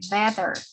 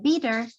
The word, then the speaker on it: better: Don't forget the pronunciation of the word better. Si en este caso no se escucha como un bitter, porque si ustedes pronuncian bitter, sería como agridulce, ¿no? Tiene otro significado, estamos diciendo algo diferente. So better would be the right pronunciation. Better, ¿no? Better. Se escucha la E, exactly.